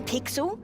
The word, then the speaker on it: Pixel: name's not weird guy I'm pixel it's easy to remember because it rhymes with pickle it does I'm Foster